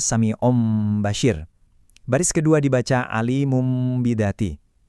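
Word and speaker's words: سَمِيعٌ بَصِيرٌ: Di baris pertama kita enggak baca samiun basyirun, tapi akhiran n itu kita switch jadi m yang disamarkan. jadinya samium basyir.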